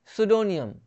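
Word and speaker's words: pseudonym: वैसे ही सुडोनियम, सुडोनियम में P silent है, उपनाम होता है इसका मतलब।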